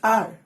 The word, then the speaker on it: hour: जैसे कि आर, आर का स्पेलिंग HOUR है पर एच साइलेंट है।